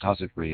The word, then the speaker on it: housewifery: Pronounced husipry and huswips.